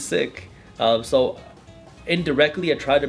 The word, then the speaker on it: Sikh: sikh looks like um how do you say the word sick because a lot of people say seek i yeah i used to say seek i didn't know it was sick yeah it's and it's sick yeah so it's the right way to say it is sick so indirectly i try